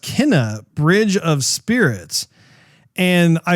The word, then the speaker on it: Kena: pretty interested in, and it's, I believe it's pronounced Kena, Bridge of Spirits.